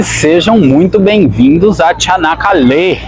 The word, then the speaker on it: Çanakkale: E sejam muito bem-vindos a Çanakkale. Pelo que eu entendi, a sílaba tônica é a última mesmo, seria Çanakkale.